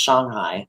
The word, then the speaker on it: Shanghai: say it right, but she was saying it like it's more of an O sound. I get, Shanghai. yeah, there it's pronounced Shanghai.